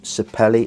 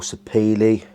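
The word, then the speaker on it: sapele: Um sapelli or sepili depending on what neck of the woods that you're from and how you pronounce it.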